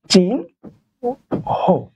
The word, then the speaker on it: চিহ্ন: আমরা এই ন দেখব যখনই আমরা এই ন টা দেখব তখন আমাদের মনে রাখতে হবে তার উচ্চারণ সরাসরি হবে ন যেমন এক্সাম্পল গুলো দেখেন যদি আমি বলি যে চিহ্ন দেখেন তো এখানে হ ন আছে না তাহলে না না থাকলে সরাসরি উচ্চারণ কি হবে ন তাহলে এটার উচ্চারণ হচ্ছে চিন হ তাহলে দেখেন তো ন